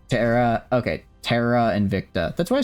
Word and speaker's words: Terra Invicta: Terara and Victa is the pronunciation. Terara. Okay. Terara and Victa.